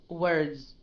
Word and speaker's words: words: this word words okay it is a z sound right words words words words okay